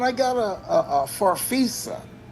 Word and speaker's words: Farfisa: How you pronounce it again? Farfisa.